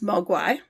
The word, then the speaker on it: mogwai: could identify with them in cantonese magua means devil demon or gremlin the mandarin pronunciation is mogwai there was no cgi